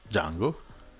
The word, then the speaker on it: Django: I will insert "Django" in this case. (D is silent!)